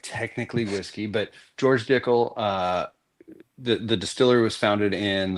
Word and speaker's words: Dickel: It's Dickel. It sounds like tickle, but it's different. It's spelled different for sure.